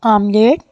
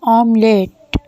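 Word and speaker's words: omelette: The next word is आमलेट और जिसे हम आमलेट कहते हैं वो एक्चुअली में इंग्लिश का ही वर्ड है और उसकी प्रोनाउंसिएशन है ऑमलेट। रिपीट कीजिए, ऑमलेट। The next word is कढ़ी, जिसे इंग्लिश में बोलेंगे करी।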